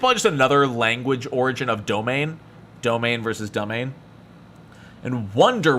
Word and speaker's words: demesne: the feudal system how do you go about pronouncing it domain okay domain it is domain i don't know